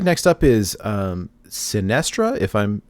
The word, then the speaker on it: Sinestra: so it looks like next up is um sinestra if i'm pronouncing that right that is correct yes so